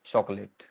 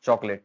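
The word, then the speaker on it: chocolate: Next है हमारे पास, I like चॉकलेट, इट्स चॉकलेट नॉट चॉकोलेट, ठीक है, 2 सिलेबल है चॉकलेट।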